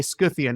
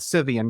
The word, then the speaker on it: Scythian: That's why I say Scythian instead of Scythian, because I just think it winds me up that that's this trait of the English language that we decided sometime in the 18th century to start pronouncing Greek Ks as S's because some French people mispronounced Latin words in medieval times or something.